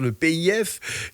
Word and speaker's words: PIF: grâce à un public le pif si on veut le prononcer à la française le pif qui est un fond